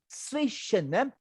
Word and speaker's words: zwischen: One conversation, a conversation, zwischen. Remember, there's a Z and an S, so you must pronounce very carefully. Zwischen. First zwischen. Zwi is like a TS.